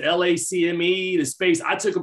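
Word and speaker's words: LACMA: the uh i can't is it lack me they pronounce it lacme the space i took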